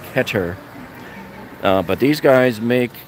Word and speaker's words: Keter: This, I don't know, is this the Keter one? This is the the deck box. Yeah, the I'm sorry, Keter. I always get corrected by my friends from Israel, where Keter is made. It's actually pronounced Keter.